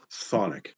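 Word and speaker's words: chthonic: It's just Sonic. The CH is silent.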